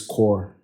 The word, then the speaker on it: corps: We call the NYSC people coppers because NYSC means National Youth Service Corps. So the silent P in corps now becomes a verb, which is now a gerund.